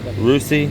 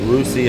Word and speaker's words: Rusi: is and this is okay rusy so that's how you say it rusy on the other 23